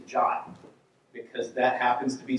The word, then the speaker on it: JWT: how I know that the official pronunciation of JWT is jot because that happens to